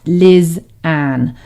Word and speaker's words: Lysanne: before it's spelt l-y-s-a-n-e and it's pronounced liz anne a lot of people get the pronunciation wrong because of how it's spelled and i totally get